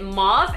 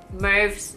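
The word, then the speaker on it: mauve: last easy 700ml video I kept calling it mom and someone told me in the comments that moves rides with stove and then I googled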